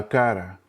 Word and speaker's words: cara: Again, going back to previous things that I've taught, the R, sounds like a soft D, cara, cara, not like a hard R like we do in English, cara.